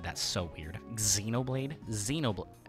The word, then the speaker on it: Xenoblade: that's so weird Xenoblade Xenoblade how do you should I pronounce the X in in Xenoblade you just pronounce it like a z I think yeah Xenoblade